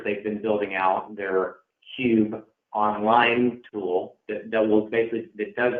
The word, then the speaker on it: Qube: recommend a middle man, a middle software called Qube. That's actually how you pronounce it. It's spelled Q-U-B-E.